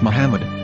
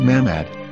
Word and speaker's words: Muhammad: Ben yehuda's Hebrew English dictionary it is correctly pronounced as Muhammad not mmad so how we're going to know for sure